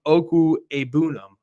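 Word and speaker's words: Okwuegbunam: see Albert o who apparently you pronounce the name oku abam according to his Twitter so um you know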